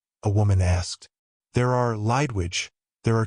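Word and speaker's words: Lidewij: Until then, I'd pronounced his assistant's name like Lid a Widge. We could hear everything through the door. "Are they here, Peter?" a woman asked. "There are, Lydwidge.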